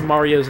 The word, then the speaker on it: Mario: a Mario videos about the pronunciation of Mario, which is pronounced Mario, although some people pronounce it Mario. Yeah, because they're crazy. And there's just like a long discussion about how people pronounce it. But it's like, it just is Mario. That's how he says his name.